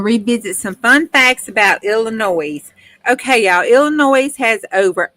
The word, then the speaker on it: Illinois: Debbie hey Elisa yes Illinois the S is silent but I don't know